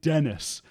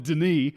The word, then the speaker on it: Denis: We've been calling him David Dennis. I mean, clearly his name is David Denis.